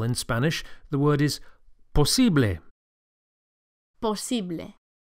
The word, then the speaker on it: posible: To say possible in Spanish, the word is posible. Posible. The second syllable, the E, is accentuated. Posible. Posible. And the final E sound, posible, is a pure vowel, not A. Don't say posible, but posible.